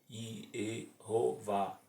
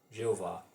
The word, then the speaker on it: Jeová: Rei Vav Rei YHWH, eles não deram as vogais verdadeiras, mas pediram emprestado as vogais de Eloá, Eoá, Deus. O resultado foi Iehová, que foi anglicizado na King James versão como Jeová.